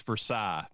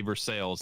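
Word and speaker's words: Versailles: Kentucky yes in Paris France it's Versa but we say versales and that's what we call it it looks like veres to me so you know and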